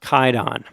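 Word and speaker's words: Kwaidan: a a weird historical thing but it's actually pronounced kaidon okay okay some of these I was reading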